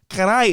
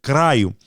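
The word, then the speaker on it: caralho: Carai is a mispronunciation, okay, of the word caraio.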